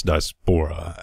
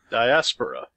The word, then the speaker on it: diaspora: about it and that's dispora and there's 30 ways to pronounce that diaspora diaspora I've heard that that's how you pronounce it diaspora diaspora but what we've